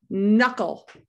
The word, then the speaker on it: knuckle: Knuckle. Yeah, with silent K, we don't say knuckle.